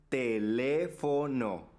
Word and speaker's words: teléfono: cometería algo tan atroz teléfono se pronuncia teléfono en la penúltima sílaba lleva el acento Y ese es drujula Ah y esdrújula es